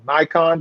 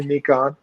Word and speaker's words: Nikon: caught 50 all right I think everybody here probably pronounces it as a Nikon but it's okay if you want to say meek on a show like I